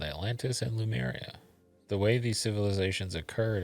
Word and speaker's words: Lemuria: wondering about the advent of the civilization called Atlantis and Lemuria.